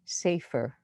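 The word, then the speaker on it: sefer: see romano reading and the hebrew word he said for book which includes prayer book is pronounced safer as in your title now the strongest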